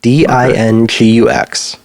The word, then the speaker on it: Dingux: Dingux. It's like dingus with an X, which is an older